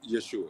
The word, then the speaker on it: Yeshua: I don't know how to pronounce Yeshua.